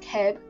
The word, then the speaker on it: QEB: Something like QEB, pronounced Keb, would be worth more than my IGN 8YX.